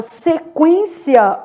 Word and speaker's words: sequência: Já na palavra sequência, olha o que está acontecendo. Sequência. Eu tenho um dígrafo, mas é o EN. O U é pronunciado, tá?